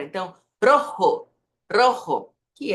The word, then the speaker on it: rojo: e não é R lembre que o o não vira u no final de palavra então Rojo Rojo que é a